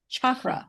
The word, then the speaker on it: chakra: Am I pronouncing that correctly? Now, because Mhm. I'm so used to saying chakra, chakra, Yeah.